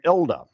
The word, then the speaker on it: Hilda: Hilda Stott, she pronounced her name Ilda because she was from Brazil, and she went back